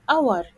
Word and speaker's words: hour: or a house but if the letter H is silent like the word hour a a hour so